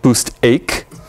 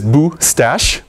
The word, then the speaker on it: Boostache: You might be confused and want to call it Boostache. That's wrong. It is Boostache.